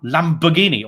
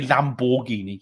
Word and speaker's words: Lamborghini: didn't put a lamb Lamborghini or as my dad would say Lamborgini he never kind of worked out how to pronounce it properly so that is it